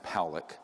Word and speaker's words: Pollack: This man, William Pollack, his name is pronounced Powlick, was a man, very good man, who gave me an interview only to be released posthumously after he died.